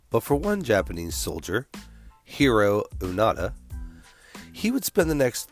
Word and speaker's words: Hiroo Onoda: Is it Hiroo Onoda?